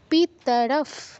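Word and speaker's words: পিতরঃ: হবে আচারিয়াফ আচারিয়াফ পিতারফ আবারো বিসর্গের পর দেখুন প আছে তো প বা ফ থাকলে ভয় হসন্ত উচ্চারণ করতে হয় ফলের ভ এজন্য আমরা হসন্ত উচ্চারণ করছি পিতারফ পিতারফ কোন দীর্ঘস্বর নেই তাই সবটাই দ্রুত বলতে হবে পিতারফ পুত্রাস ত্রাতে দীর্ঘ পুত্রাস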